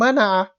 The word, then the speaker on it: منع: When you make a sound mana'a bil ayn, to prevent, manaha, to grant, opposite meaning.